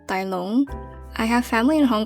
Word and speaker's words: Tai Lung: I'm pretty sure Tai Lung is a Cantonese name pronounced Tai Long.